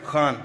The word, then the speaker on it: Khan: Khan, am I saying it right? Khan from the Epiglottis.